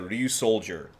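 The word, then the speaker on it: Ryusoulger: Well, pronounced like soldier, but Ryu Soul, well, all together, Ryu Soldier.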